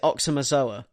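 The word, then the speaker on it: Aoxomoxoa: because it's um a-o-x-o-m-o-x-o-a which i think is supposed to be pronounced oh it's a it's a meaningless palindrome and you would pronounce it oxamazola um but like even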